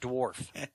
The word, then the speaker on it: dwarf: He's not saying the W.